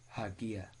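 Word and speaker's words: ἁγία: reading on a letter it sounds like letter h for example the greek word which means oli is pronounced hagia with h added to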